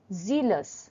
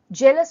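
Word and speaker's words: zealous: লাফিয়ে ওঠো number 88 জিলাস জেলাস নয় কিন্তু জিলাস জেড ই এল ও ইউ এস মানে উদ্যোগী নাম্বার 89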